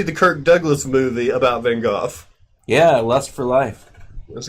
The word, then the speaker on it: Van Gogh: Van Gogh is how the UK pronounces it. Van Gogh in America.